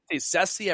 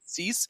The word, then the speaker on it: Cease: How do I pronounce it? I like Dylan Cease. I thought it was always been Ceci. I've heard different outlets say Ceci. I'm going to go with Cease. Sounds easier.